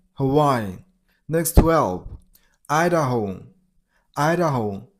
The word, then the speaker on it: Hawaii: You got a stress on the middle syllable. Why? Huh? Why? Hawaii.